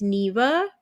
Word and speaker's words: Neva: so right well like nobody ever pronounces my name right either because it's short Like It's Neva but it's short for Geneva and so unless they see my whole name they don't say it right so right I try